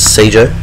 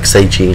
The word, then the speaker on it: Seiji: That, of course, leaves us with Frankie Perez to take on Zeshin and Death Touch versus Seijo. I think I said his name wrong. It's like Seiji, not Seijo.